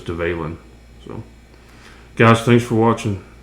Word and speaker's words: Dvalin: um the Valen or someone I heard it pronounced duvallen but I believe it's develin so guys thanks for